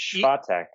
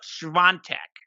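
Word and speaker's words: Świątek: How do we pronounce her name? You guys were on that last week. What was it? It's Swiatek. It's close, and okay. I might be off a little. It's Iga Swiatek.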